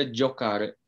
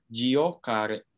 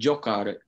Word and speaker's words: giocare: Di situ ada giocare. Oke, giocare. Ya, jadi pelafalannya seperti itu ya, teman-teman. Bukan giocare. Oke, jadi itu anggap saja si i-nya tidak ada gitu ya, teman-teman. Jadi giocare.